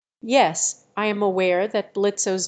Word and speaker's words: Blitzø: Word are not pronounced in the case of blitzo's name the O is not pronounced which makes it silent this is a common